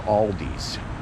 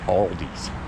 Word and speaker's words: Aldi: Is it Aldi's or Aldi? I think Aldi is how you're supposed to pronounce it, but everybody around here calls it Aldi's.